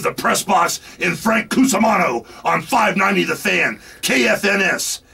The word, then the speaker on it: Cusumano: Cusumano.